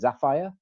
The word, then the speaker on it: Zafire: You'll have to tell me how to say it. Zafire, maybe? Zafire, like Sapphire? Zafire yes, Events. You're correct.